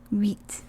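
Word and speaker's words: uit: here do you remember put your lips like you're gonna whistle and say we so it's wheat wheat wheat exactly i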